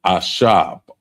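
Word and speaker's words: עשב: So we want to add, the first one is actually herb, and that's ashab. Ashab. And it's spelled Ishab.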